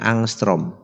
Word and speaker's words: angstrom: gelombang lamda lamdanya adalah 3000 angstrom yang dibacanya angstroms oke angstroms itu tidak lain